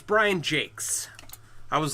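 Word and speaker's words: Jacques: everyone I knew growing up reading it always pronounced it JS and then when I was an adult I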